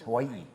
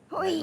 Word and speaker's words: Hawaii: we learned we were saying it wrong. It's not Hawaii. It's Hawaii. Hawaii. Like Hawaii.